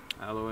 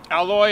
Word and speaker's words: aloe: The next drink is the alloy and grape. Alloy and grape? How do you say it, Paul? Alloy? I think in English it's aloe. Okay. Like aloe vera, aloe.